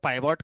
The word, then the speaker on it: pivot: Pronunciation कुछ लोग पिवॉट कहते हैं, कुछ लोग पाइवॉट कहते हैं, लिखना एक ही स्पेलिंग है, PIVOT। प्रोनाउंस कुछ भी कर सकते हो, ठीक है।